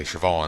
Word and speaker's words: Siobhan: more I've said I've forgotten to say Sivan and came up with on as a pronunciation guide because there's a be in that name seriously there's a silent be even worse is the